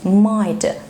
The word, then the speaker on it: might: الجي اتش ليها ساوند تاني، هو مش ساوند، هو سايلنت اصلا مش بيتنطق، زي الورد دي might might might. ما جبناش سيرة الجي اتش، ما عملتش اي صوت.